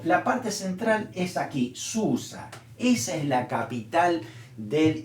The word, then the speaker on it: Susa: relata es aquí en susa o shushan como también se pronuncia Y ese es el